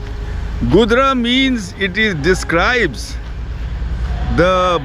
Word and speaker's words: Gudra: today gri and the the place's name is gudra which Buddhist world has mispronounced as kaka's mango Grove it is gdra Goodra means it is describes